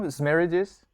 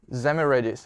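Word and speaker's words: Szemerédi: I don't know how to pronounce this. Boris, do you know? Zmeridis. Zmeridis.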